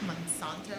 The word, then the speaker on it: Monsanto: Monsanto, is that how you say it?